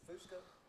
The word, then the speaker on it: Fusco: So You pronounce it Fusco? Yeah. Okay. I got a friend that pronounced it Fusco, so I didn't know.